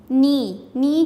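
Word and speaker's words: knee: नी के अंदर के साइलेंट है, के को अंडरलाइन करें।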